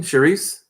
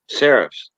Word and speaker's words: serifs: Sharice? Serifs.